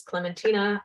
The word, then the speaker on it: Clementina: are curious as to how my first name is pronounced it's clementina i almost never use